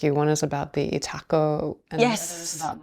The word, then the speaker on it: Itako: But the thing that was really fascinating to me about the Itako, is that my pronunciation?